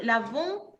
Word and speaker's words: lavons: Por ejemplo, lavons es un sonido nasal entre O y N.